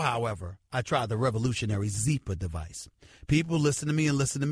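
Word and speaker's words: Zyppah: It's Zeepa, pronounced Zeepa. It's spelled Z-Y-P-P-A-H. It's easy to remember because Zeepa is happy Z spelled backwards.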